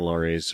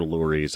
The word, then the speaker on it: Lurie: Actually, they're Luries. I need to say that right, Lurie. And I think that Hugh Laurie, it's spelled the same way, but it's pronounced Laurie, even though these guys say Lurie.